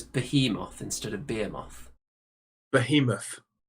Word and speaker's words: Behemoth: Behemoth.